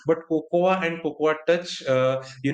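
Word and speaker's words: Cocoa: have pronounced it correct or how you guys pronounce it yeah it's fine so it's a Coco and a Coco touch so Coco is made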